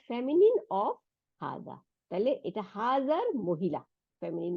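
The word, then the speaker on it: هذا: পড়লাম সেটা হলো হুম হাজা এটার মধ্যেও হার সাথে একটা আলিফ ছিল কিন্তু লেখার মধ্যে থাকে না কিন্তু আমরা উচ্চারণের সময় এক আলিফ টান দিব হাজা তাই না আর হাদিহি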